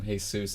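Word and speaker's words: Jesús: kid but he it's he pronounces it Jesus so the girl keeps teacher keeps calling him hey soos and he freaks out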